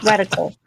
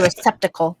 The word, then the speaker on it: reticle: my reticle was at that's what it's called re reticle I always say it wrong I was to say receptical that's you should put